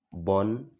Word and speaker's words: bonjour: Esta parte, por ejemplo, la B, lo juntas con la O y la N para constituir un solo sonido y dar un bon.